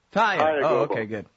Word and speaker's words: Taia: Taia. Taia. Oh, okay, good. Silent A, that's easy.